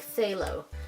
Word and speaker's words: phthalo: heard people pronounce this they pronounce it more like with just the th so it's like say lo they lose signing so